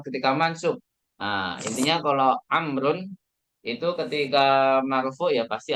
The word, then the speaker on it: عمرو: Kalau Amrun karena dia pakai waw, nah, waw ini berarti bacanya Amrun.